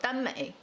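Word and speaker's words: 耽美: Okay, it's based on a Japanese, first starting in Japan, called danmei. That is Chinese pronunciation of the word.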